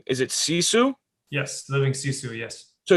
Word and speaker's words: Sisu: So you said something about living, and tell me if I pronounce this wrong. Is it Sisu?